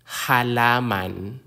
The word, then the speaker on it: halaman: auro is a teacher the consonant H like the H in hat halaman halaman a halaman is